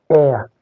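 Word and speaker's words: heir: This one is air. Air, hair. Notice H is pronounced here. H is not pronounced here. So this one is silent H.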